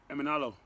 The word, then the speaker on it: Emenalo: How do you pronounce his last name? Emenalo.